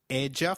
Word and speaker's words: ella: In Spanish, double L takes up the sound of Y in some areas and a soft J in others, so you'll hear both ella and ella.